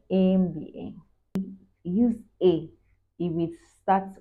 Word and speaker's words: MBA: let's look at examples use n if the abbreviation starts with a vowel sound for example an MBA pronounced as MBA MBA use a it will